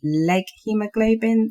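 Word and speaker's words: leghemoglobin: interested in reading a little bit about the leg hemoglobin that um impossible burgers are using if I pronounce that correctly yeah yeah that is correct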